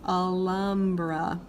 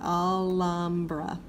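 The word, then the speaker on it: Alhambra: they are pronounced differently the H is always silent ignore it pretend like it's not even there just go straight to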